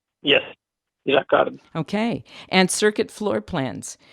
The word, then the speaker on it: Jacquard: Did I pronounce that correctly? Yes, Jacquard.